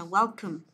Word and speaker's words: welcome: Cái này là welcome, welcome. Đừng đọc là welcome, nhớ chưa?